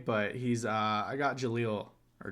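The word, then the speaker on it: Jellal: a pretty ba but he's uh i got jaleel or joel or is it yeah i i want to say that's how you say it from fairy tale jalal jalal there you go yeah okay it's been a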